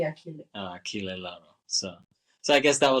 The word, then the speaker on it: Achille: Is that CH? Yeah, CH. Yeah. Oh, sorry, it would be Achille.